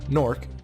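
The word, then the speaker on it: Gnorc: I'll go into more nastyganork or norc depending on how you pronounce it they say gunor here so I'll I'll go with what the game says I usually find game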